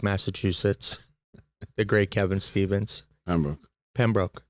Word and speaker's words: Pembroke: I'm here with two-time Stanley Cup champion, the pride of Pembroke, Massachusetts, the great Kevin Stevens. Pembroke. Did I not say it right? Yeah, that was good.